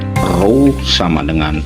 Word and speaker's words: rho: ini rumusnya adalah rho rho ini bacanya rho ya sama dengan jenis ini